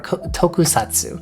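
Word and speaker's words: tokusatsu: At least in regards to uh tokat or tokusatu, that's how you say it.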